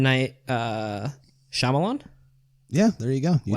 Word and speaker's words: Shyamalan: Night Shyamalan?